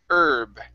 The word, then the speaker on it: herb: instead of herb okay the h in this word is silent herb try that okay very